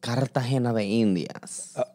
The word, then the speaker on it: Cartagena de Indias: So my drag name originally was Cartagena de Indias.